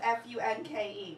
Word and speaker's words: Funke: my name is spelled f u n ke my last name is Funk we don't pronounce the E because my family is like really pretentious we just like you